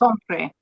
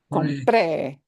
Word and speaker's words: compré: Bought is Compre. compré, Compré. not compre. Now, Compre. cuidado, careful. Here's where what you punch, yeah, Compré. makes a difference. Compré, compré. We need to punch the end.